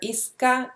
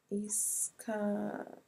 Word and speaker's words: Isca: Isca dress. Okay, let's see. It's with a C, not with a K. So it's spelled I-S-C-A.